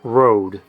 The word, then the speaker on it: Røde: based in Australia, so the slash is purely for show, and they just pronounce it Rode.